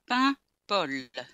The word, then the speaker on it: Paimpol: Paimpol. Paimpol. And it sounds more like bubble than a town name. Yeah. Think of bread. Right. Pain. And then pol. Pol. Paimpol.